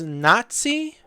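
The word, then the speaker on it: Natsai: learned them straight away but yeah then there's Nazi which that is how you pronounce her name okay uh so um I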